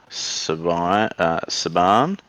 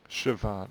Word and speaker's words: Siobhan: Say it like a V. There's no V's in it. It's It's silly. Celtic. Don't pay attention to the spelling.